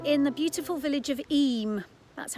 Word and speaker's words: Eyam: I'm here today in the beautiful village of Eyam, that's how it's pronounced, in the Peak District National Park in England. Now Eyam is a lovely village.